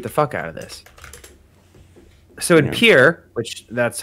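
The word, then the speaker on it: Pierre: out of this so in Pier which that's how you pronounce that yes that's correct the meat is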